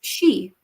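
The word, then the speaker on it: Sidhe: it, Tarot of the She. I learned how to say this. So, it even says on the back, pronounced She, the ancient Gaelic name for the noblest order of the fairy, Faery race.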